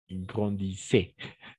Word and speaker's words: grandissez: Les enfants grandissent sont, et grandissent, sont, grandissez. grandissez, Oui, on a fait presque ENT à la fin. Au niveau de la prononciation, on va prononcer toujours E.